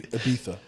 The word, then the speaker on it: Ibiza: it's Ibiza. Oh yeah, that's Ibiza. And if we're pronouncing it natively, Ibiza.